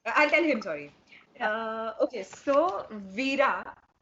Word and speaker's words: Vira: Okay, so Vira rhymes with Bira.